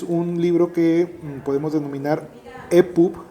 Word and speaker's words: EPUB: No, el libro electrónico actualmente, desde hace muchos años, es un libro que podemos denominar EPUB en español, EPUB, digamos con la terminación en inglés o con la pronunciación en inglés.